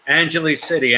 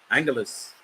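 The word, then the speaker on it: Angeles City: pronounced say you know what I used to pronounce it Angele City Angele City then people said no you're pronouncing it wrong it's angly City look you're from here how do you say it I know this Angeles so there it is somewhere that lives here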